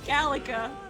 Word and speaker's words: Gallica: Gallica. That's how you say it.